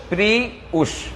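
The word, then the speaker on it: Prius: ঘন্টা খালি half C আমরা সবাই বলি কি প্রিয়াস প্রিয়াস টয়টা প্রিয়াস আমরা সবাই ভুল বলি ওইটার নাম তো প্রিয়াস না প্রিয় প্রিয় প্রিয় উউশ প্রিয় উউশ প্রিউশ প্রি উস উস প্রিয় আমরা ভুল কই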